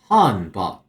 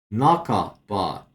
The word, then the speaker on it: 半ば: I saw this and my brain instantly went han ba, naka ba. I somehow did not know that could be pronounced naka.